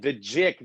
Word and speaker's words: GIC: yeah, the JIC, the Global JIC, that's it. That's Inspiration it. Conference. Yeah. They go for the soft G when they pronounce it.